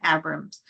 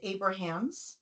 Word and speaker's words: Abrahams: It's actually pronounced Abrahams, but you did, Abraham. You did great. I did terrible. It's like Abraham Lincoln with an S.